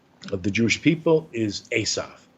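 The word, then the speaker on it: עשו: He was full of hair, and the word Esav in Hebrew, it's almost like Esau, right?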